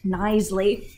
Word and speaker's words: Knisley: And I know her name looks like it's super hard to pronounce, but it is pronounced Knisley.